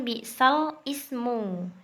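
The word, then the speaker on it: بِئْسَ الِاسْمُ: Tulisannya kan bi'sal ismu. Nah, kasrohnya ini dipindahkan ke lam ya. Jadi bacanya bi'salismu, bi'salismu. Gitu.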